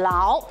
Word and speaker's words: 窖: 因为呢其实啊在福州话当中哦，较长的这个窖字，它的发音呢就像是牢，所以呢